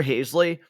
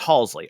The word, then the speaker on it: Halsey: I'm like, oh god, no, it's Halsey. I mispronounced it Halsey, the yeah.